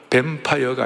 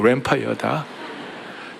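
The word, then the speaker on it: Lanphier: 대신 발음은 잘하라. 뱀파이어가 아니고 램파이어다. 제레미야 램파이어다.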